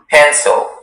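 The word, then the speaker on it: pansil: Hello, your word is pencil.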